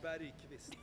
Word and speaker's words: Bergqvist: Bergqvist.